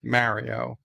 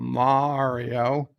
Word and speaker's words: Mario: love uh mario uh your name is pronounced mario you uh you need to tell your bosses however powerful you may think they are that your name is mario it is not mario and you will not